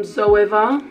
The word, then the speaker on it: Zoeva: It's also from Zoeva, that's how you say it, and it's 228.